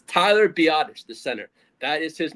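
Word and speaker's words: Biadasz: It's Tyler Biottish. the center. That is his name is Tyler Biottish. Not badass.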